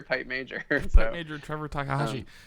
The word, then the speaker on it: Takahashi: it comes after pipe major pip major Trevor Takahashi like yeah that's interesting um I think it's